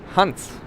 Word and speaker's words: Hans: Lastly, before I stop talking a lot, please pronounce my name in a German accent. Hans. Hans. This is how you would say it. It's not very different than what I usually always said.